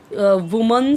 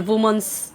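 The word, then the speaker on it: women: वीमेन हो गया और इसे हम बोलते हैं वीमेन वीमेन वीमेन और इस तरीके से होता है यह बहुत इंपॉर्टेंट इंपॉर्टेंट चीजें हैं जो अक्सर लोग मिस्टेक्स करते हैं और अ नॉर्मली इसे भी बोलते हैं वुमंस वुमंस आर वुमंस तो वह रॉन्ग हो जाता है वीमेन हो जाएगा वह चिल्ड्रन गुड मॉर्निंग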